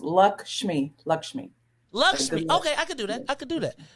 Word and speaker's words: Lakshmi: It's 2 syllables. Lakshmi.